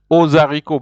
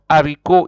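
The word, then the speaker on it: haricot: ariko or a RICO you can never you can you can say Daniel ozarico because h of ariko is considered as spirit it's not silent if it was silent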